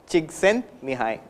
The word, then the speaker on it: Csikszentmihalyi: me hi jigs and me hi me hi Csikszentmihalyi so Eastern European origin he has worked in